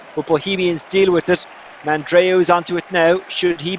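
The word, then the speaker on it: Mandroiu: Some call him Mandrew, but I think Mandreo is the actual proper pronunciation.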